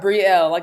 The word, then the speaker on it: Brielle: You are Brielle, kind of like Gabrielle, just take off the gab.